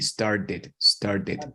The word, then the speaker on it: started: start it off so that t sounds like a d started started off started off